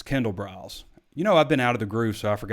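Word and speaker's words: Kendall Briles: Art Briles Kindle brows so I said I got a lot of flight because I said hard brows in the in the walk and talk and also mispronounce Derek Lowe blonds name out even though I've been spelling it phonetically for everyone since we first reported it but it's Kendall brows you know I've been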